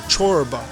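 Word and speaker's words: çorba: know my favorite soup or chorba as they pronounce in Turkish is head soup every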